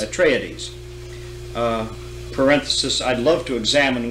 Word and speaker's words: Atreides: You have the forces of the House of Atreides, do you pronounce it? Atreides. Atreides.